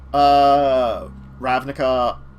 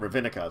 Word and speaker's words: Ravnica: So, but anyway, so Ravnica, which I've been saying it right finally. For a while I was calling it Ravnica.